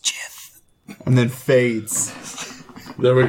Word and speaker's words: Gith: The Raven Queen appears and whispers to them, "It's pronounced Jith," and then fades.